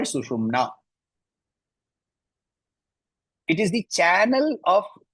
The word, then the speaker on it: sushumna: The first word, sushumna, you have to be careful of the pronunciation. The sha has to be clearly pronounced. Otherwise, it becomes shushumna. Shushumna is not the right pronunciation.